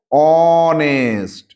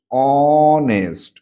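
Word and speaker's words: honest: এইতো পেয়ে গেছিলাম অনেস্ট এই কনসোনেন্ট লেটার কিন্তু উচ্চারণ হচ্ছে অনেস্ট অনেস্ট অচ্চারণ হচ্ছে তাহলে এখানে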